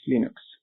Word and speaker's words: Linux: this is lals and I pronounce Linux as Linux the Linux kernel Still